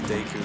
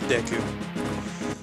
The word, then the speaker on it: Deku: Anyone who says Deku is actually wrong. Katsukana. Yep, it's Deku. Why? Because I know how to read Japanese katakana, and I know how that's pronounced.